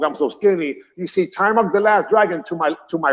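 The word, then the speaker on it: Taimak: So Timok is my best friend, even though people call him Ty Mac, but it's Timok.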